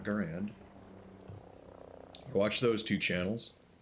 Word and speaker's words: Garand: It's supposed to be pronounced Garand, not Garand.